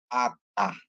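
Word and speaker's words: אתה: ya jadi dia bacanya jadi Alif itu senyap sesuai dengan mikut yang dibubuhkan ke dia jadi bacanya Ata ya Ata a ta artinya Anda kamu ya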